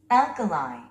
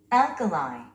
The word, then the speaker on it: alkali: Alkali. Alkali. 우리 한국인들은 이 단어를 알칼리라고 부릅니다. 그런데 원어민들은요? Alkali. Alkali. 스트레스가 맨 앞에 있습니다.